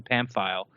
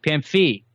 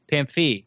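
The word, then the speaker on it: Pamphile: like in God's name somebody teaching how to say is a ah so it's but it was Pam foot pinfu pinfu pinfu MP Pam fee Pam fee is his name his actual name and then Casey says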